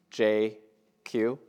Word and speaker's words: Jay Kiew: I'm probably the only person you'll ever meet whose full name can be pronounced in 2 letters, J-Q.